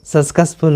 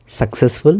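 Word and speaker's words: successful: जीवन में सक्सेसफुल सक्सेस सक्सफुल होना है तो यहां पर आ जाता है रजिस्ट्रेशन सक्सेसफुल तो सही उच्चारण है सक्सेसफुल ना कि सकस फुल तो गुरुजी ने पूछा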